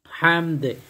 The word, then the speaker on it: حمد: হামদ এটা ছোট্ট হা, একটু চিকন করে তারপর আপনার চিমিয়ে উচ্চারণ করতে হবে।